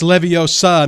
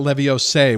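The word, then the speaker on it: Leviosa: the from Harry Potter it's levosa not levio say well I was saying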